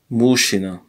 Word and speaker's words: мужчина: Мужчина. Мужчина. Мужчина, but it's written like му жи. This is a жи. Чи не. Мужчины. If you pronounce all the phonemes, but it's not like this. You say мужчина.